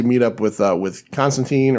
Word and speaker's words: Constantine: up with uh with constantine or constantine i i i think they say it's pronounced tine in this um it's one